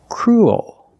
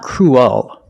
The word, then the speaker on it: cruel: expands it gets bigger to make the dark l so cruel that's the dark l cruel and it's not cruel there's kind of an extra sound and where it comes